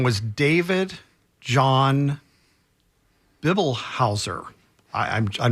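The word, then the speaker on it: Bibelhauser: I'm pronouncing that right bi b e l h a u s e r David John but he was at it's Bible house he was at mcdill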